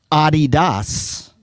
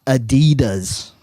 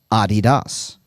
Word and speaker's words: Adidas: It is because of you that I will, from now on, pronounce the popular soccer shoe Adidas and not Adidas.